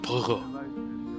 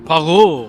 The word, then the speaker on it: Poirot: Poirot. İsme bak. Poirot diye okunuyor.